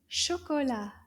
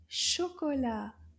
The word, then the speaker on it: chocolat: This is called chocolat. Chocolat. Let's see how many syllables.